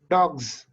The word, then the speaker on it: dogs: Dogs. No, yes. It's pronounced as a z.